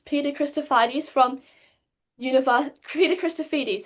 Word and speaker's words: Christofides: So um this is Peter Chrisphardes from univers Peter Christophites. Have I got the pronunciation right? Chrisphites is good.